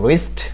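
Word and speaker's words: wrist: এর পরবর্তী যে ওয়ার্ডটি সেটি হলো ডাব্লিউ আর আই এস টি, রিস্ট।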